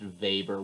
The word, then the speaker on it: Weber: his name is pronounced vapor with a v sound like it would be written v a b e r maybe the most important